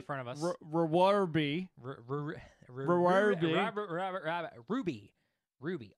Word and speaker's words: RWBY: reward be Ruby Ruby oh wby that doesn't pronounce Ruby it doesn't unless your professor husband he's in the show and he says it does so it's a W so I guess technically could be Ruby there you guys spread